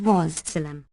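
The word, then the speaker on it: والسلام: Walsalam, pronounced Wassalam, meaning and here ends the matter.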